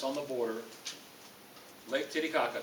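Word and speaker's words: Titicaca: snickering but we can't get around it Lake titty Kaka it's yeah I know I know come on we're not teenagers that's how it's pronounced it borders Peru and Bolivia it's the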